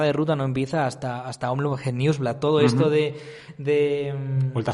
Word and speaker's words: Omloop Het Nieuwsblad: Por favor, Saúl, ilústranos a nivel de idioma cómo se pronuncia esta carrera. Bueno, sería Omloop Het Nieuwsblad.